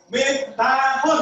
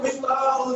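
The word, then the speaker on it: مفتاح: Jadi miftahun itu yang benar bacanya. Cuma kalau di Indonesia miftahul jannah. Apa ya? Nah, di Indonesia enggak misalnya siapa ngomong miftahul jannah enggak? Enggak gitu ya. Tapi cukup miftahul.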